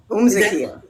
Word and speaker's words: Zakiyyah: Zakiyyah. Zakiyyah. Okay. Yeah, because mother of, yeah. Yeah, Zakiyyah. I wasn't sure if the pronunciation was correct.